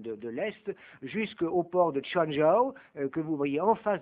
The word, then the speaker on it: Quanzhou: l'est, jusqu'au port de Changzhou, que vous voyez en face de Taïwan, d'où il est parti, ça s'écrit Quanzhou, mais on ne prononce pas comme ça, d'où il est parti